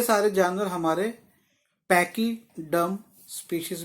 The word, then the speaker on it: pachyderm: हाँ, तो ये वर्ड की स्पेलिंग लिखो, PACHYDERM, PACHYDERM, DERM, पैकीड्रम, पैकीडम।